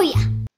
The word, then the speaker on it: ya: I got something to show ya. I got something to show ya. show ya라고 하죠. you를 y, a로 줄여서 ya라고 발음을 합니다.